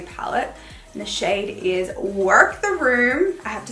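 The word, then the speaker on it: Werk: And the shade is Work the Room.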